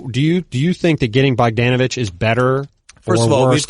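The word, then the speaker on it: Bogdanović: You're not Simmons, who's going to call him Bogdanovic, but we got to get the "an" out of you. Bogdanovic. It's Bogdanovic. Yeah, I know.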